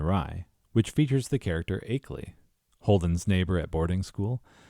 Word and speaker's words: Achelley: Aley. Mrs. Aley, Mrs. Aley, Mrs. Aley. Even if her New York accent was dropping the R sound, she pronounces the R in 30 and 4 a second later.